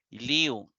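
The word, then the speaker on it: λύω: lío porque recuerde que la y se pronuncia como I lío desato entonces viene liu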